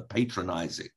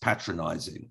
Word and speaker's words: patronizing: Costello, I found your tone actually rather patronizing. So I said, well, actually, it's pronounced patronizing and it means speaking down to people.